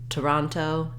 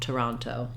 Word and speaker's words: Toronto: today tomorrow you can even think of it just as having almost no vowel Toronto today because that vowel is so reduced to that schwa Toronto finally my last O is a true o sound um and so even though we have three letter O's we have a schwa uh ah and O for Toronto now when it comes